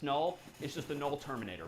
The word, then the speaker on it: NUL: N U L pronounced null is just a null terminator back slashzero.